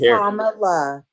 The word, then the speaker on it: Kamala: So It's Kamala.